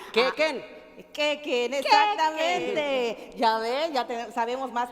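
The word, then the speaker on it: k'éek'en: Ay, ¿cómo se pronuncia? ¿Qué, Ken? Quequen, exactamente.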